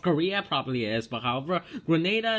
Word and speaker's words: Grenada: probably is but however Grenada is actually pronounced as I said Grenada because of military forces